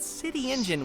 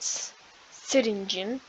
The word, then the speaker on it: Syringeon: the Same in Alliance with syringin you entered City Engine in search of jumbo Josh but City Engine was very different the mayor of the city